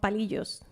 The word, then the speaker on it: palillos: And also they are called palillos.